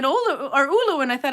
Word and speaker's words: Oulu: And then you see how to pronounce it in Finnish, and it says Oulu.